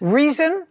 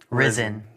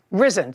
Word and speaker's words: Rizin: Reason? Risen. Risen. Spell it.